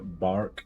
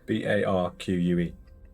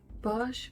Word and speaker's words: barque: Barque. Bark. Bark, okay. Onto the quayside, having an eye for a heavy tipper. Barge? Bark? It's not barge.